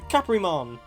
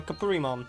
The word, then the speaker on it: Caprimon: I think it's... either works. I'm pretty sure, like... Capurimon is just the way that they pronounced Caprimon. It's like, Goblimon being pronounced Goburimon. It's literally the same name, it's just the way they've had to spell it with their characters.